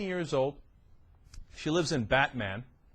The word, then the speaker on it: Batman: She lives in Batman. Batman, actually, is how it's pronounced.